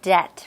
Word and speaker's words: debt: a bit of a hard time you know pronouncing it for example debt right debt where P is silent so we're gonna take